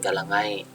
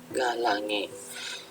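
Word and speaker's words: Galangae: Contohnya galange, bukan galangai. Ini cara bacanya galange.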